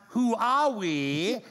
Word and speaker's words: Huawei: this one completely wrong Huawei pronounced who are we is a giant Chinese